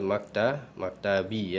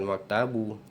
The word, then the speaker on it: maktabi: Alal maktabi ya, bukan maktabu. Kalau maktabu salah, karena ala adalah harful jar.